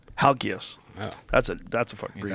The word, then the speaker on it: Halkias: How do you pronounce his last name? Halkias. Halkias.